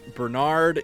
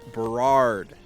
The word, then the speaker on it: Berard: I've realized I've been saying this guy's name wrong. It is not Bernard. It is Berard.